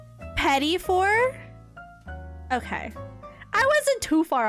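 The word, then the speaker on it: petit four: How do I If it's not petite for then how do I say it? I don't want to say it wrong. No. petty for.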